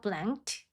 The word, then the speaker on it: blanked: 트 발음이죠. blanked.